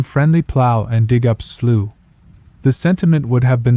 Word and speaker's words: Slough: to describe it no slooh is pronounced like the British English plow or plow as the Americans would have it in fact betchin might have written instead come friendly plow and dig up slooh the sentiment would have